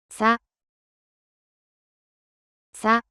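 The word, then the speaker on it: サ: さ、さ、 The pronunciation of character sa in Japanese is something like the combination of SCH in English.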